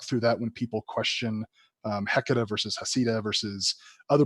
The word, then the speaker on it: Heceta: he discovered the bank, that should be the real name, Heceta Bank, without pronouncing the H. Heceta, Spanish, because he was Spanish, captain of that ship,